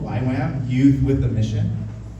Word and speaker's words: YWAM: wonder why we're called why Wham youth with the mission it's like not a very good name it's like we don't even pronounce it right it's like why Wham I type in Google